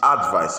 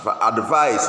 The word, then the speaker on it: advice: If you want to pronounce it, it's advice. It's not advice is for the verb. A-D-V-I-S-E.